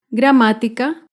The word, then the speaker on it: gramática: Gramática se acentúa en la antepenúltima sílaba.